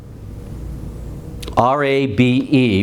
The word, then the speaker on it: Rabe: R-A-B-E, but pronounced Rabe.